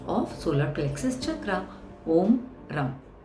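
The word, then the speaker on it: रं: है ये है ओम रम आर ए एम रम देखिए आप जैसे ही इस वर्ड को उच्चारण करोगे इस बीजक्षरा करोगे आप देखना आपके टंग में एक फ्रिक्शन होता है र रम यह फ्रिक्शन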